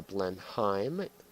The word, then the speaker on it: Blenheim: you think about this blend I'm f yes I know I pronounced it wrong but it is the blend Heim and yes I have